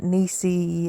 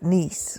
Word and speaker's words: Niece: So it's not Niecy, it's not Nessie, it's niece. Rhymes with peace.